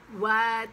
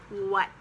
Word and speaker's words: what: It's really a what. It's not what or would. It's what. Then young.